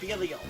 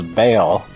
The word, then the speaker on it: Belial: I remember fighting with some fire boss in there, and I think of Belial. Oh, is that how you say his name? I always thought it was Bale, like Bael.